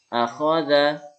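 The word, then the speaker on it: أَخَذَ: Bukan a, kho, za. Itu benar, tapi nilainya rendah. Kemampuan kita dianggap belum memahami teknik membacanya. Ya, yang seperti ini, cara bacanya yang tepat adalah akhadha, yasaro, karoma.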